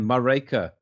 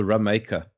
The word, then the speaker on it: Mareka: Yes, man, Mareka. Yes, Mareka. Hello, Mareka. But hello, I once got her name wrong. I called her Rameka.